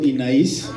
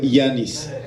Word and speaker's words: Yanis: Yo solo quiero decirles que mi nombre está mal escrito, entonces me pueden seguir diciendo Inaís, pero está mal escrito, se escribe Yanis. Entonces digo, mejor si me pueden decir Yanis, se los agradecería, porque ese sí es mi nombre.